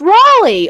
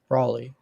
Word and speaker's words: Raleigh: ] you kaelin no it is pronounced raleigh r-a-l-e-i-g-h because l-e-i-g-h is lee no you hey god which one of us is from the south raleigh raleigh thank you okay